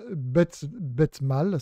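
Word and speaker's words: Bethmale: Donc c'est le fromage Betmal, c'est comme ça qu'on prononce, c'est un fromage de l'Ariège que je connais pas d'ailleurs.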